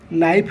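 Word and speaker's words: knife: यही वर्ड रे के साइलेंट अच्छी माने के रा उच्चारण करा जाएनी। यहाकू नाइफ बोली उच्चारण करा जाए।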